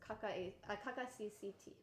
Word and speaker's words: Kakacct: DaisushiChinroto, as well as Kakacct. That's the way that's pronounced. Yes, Kakacct. we made sure. I was thinking it was like CAC account, like CCT is like the initials of his Chinese name.